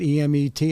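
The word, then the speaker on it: אמת: it's how do you pronounce it? E-M-E-T?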